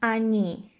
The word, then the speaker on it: они: And here again, coming back to the pronunciation, yeah, we have они. Yeah, you see the E is stressed, so O is again pronounced as A.